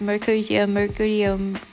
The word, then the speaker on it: Mercutio: I don't know, Mercutio or Mercutio. I think I said both during this play, like while I was playing with the caps. I don't really mind, saying it right. It's Mercutio.